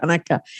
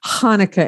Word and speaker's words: Hanukkah: The problem with English is there is no way to spell or pronounce ha. Right. Ha. Yeah. So that's where in many places it became an H. So that it's just Hanukkah instead of Hanukkah. Well, it is Hanukkah. It's but because if you cannot pronounce the ha, then you will just remain with the ha.